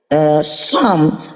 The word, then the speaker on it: Psalm: Psalm, tapi P nggak boleh dibaca.